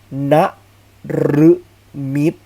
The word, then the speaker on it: นฤมิต: ครับ ไป ถึง เรือน หรือ สง่า ผ่า เผย นฤมิต เห็น ไหม รึ ตาม หลัง นอน หนู นะ